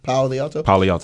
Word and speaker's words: Palo Alto: I want to say this word so bad, Palo Alto. Is that how you say it right? Mm-hmm. Palo Alto.